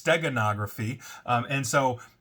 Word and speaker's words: steganography: I pronounce that right I always say stenography but it's steganography um and so it's